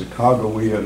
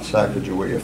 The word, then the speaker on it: Sacagawea: I painted them and spelled them with a J, and now it's with a G, and it's pronounced Sacagawea, not Sacagawea. For all of y'all who have been calling her Sacagawea all your life, it's now Sacagawea.